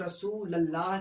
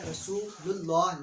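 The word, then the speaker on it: رسولُ اللہ: صلی اللہ علیہ وسلم۔ بہت سارے لوگ رسول اللہ کہتے ہیں، جو کہ درست نہیں ہے، ان کریکٹ ہے۔ درست تلفظ کیا ہے؟ رسول اللہ، لام پر پیش کے ساتھ۔ تو اس کا ترجمہ کیا ہوگا؟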